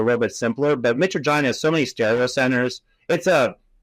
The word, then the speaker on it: mitragynine: And then, I'm going to butcher the name, but I think it's called like mitragynine. Ben G: Mitragynine.